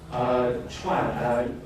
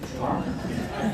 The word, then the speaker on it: Chuan: Chuan is a Chinese name, so you can say same pronunciation as the President Trump. So they say Chuan. So it's easy for you to remember Chuan.